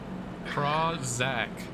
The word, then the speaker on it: Krawczyk: It's Krawczyk. That's how you say it.